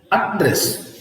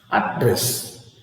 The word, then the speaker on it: address: I have WR here address address address address address see look at this so here you have the stress on the first Sy address and of course here